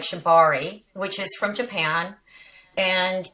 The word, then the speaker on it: shibari: i said it right did i say it correctly shibari shibari i said shibatsu didn't i is that the wrong one is that different is